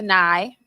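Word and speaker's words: Nye$: So I cut that down to Nye, NYE, $, the $ is silent.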